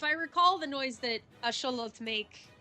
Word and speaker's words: axolotl: So it's not technically pronounced axolotl, it's Asholot.